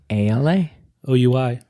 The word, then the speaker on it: Alaoui: ALA. OUI. OUI. We. Right? Yeah. French. Allah. Oui. I will never forget that. It's Alaoui.